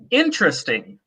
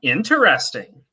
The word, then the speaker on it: interesting: So for example, some people say interesting. Some people say interesting, right? The difference between whether you pronounce that first E.